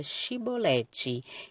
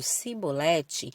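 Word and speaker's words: shibboleth: um teste de pronúncia todos que quisessem passar por ali tinham que pronunciar a palavra shiboleth quem pronunciasse a palavra de forma errada no caso cebolete era preso e consequentemente morto aquele conflito girou um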